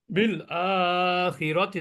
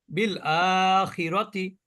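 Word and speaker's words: بالآخرة: কোন ফাংশন এখানে নাই র এর উপরে জবর জবরের উচ্চারণ জেরের উচ্চারণ পেশের উচ্চারণ দ্রুত করতে হয় তাহলে বিলতি বিল আখিরাতি দেখেন আমি কিন্তু সময় নিয়েছি খিরতি খিরতি কিন্তু সময় নেইনি আমি বিল আখিরাতি দেখেন এটুক কিন্তু আমি সময় নেইনি দ্রুত উচ্চারণ করেছি বিল আখিরাতি আল কুরআন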